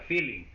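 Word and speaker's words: Fehling: Ok activo de failing se llama así se pronuncia feeling Ok O de feliz también se puede poner Entonces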